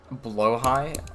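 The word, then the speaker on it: Blåhaj: Blowh high. What? That's how I say it. Blow high. It's Swedish.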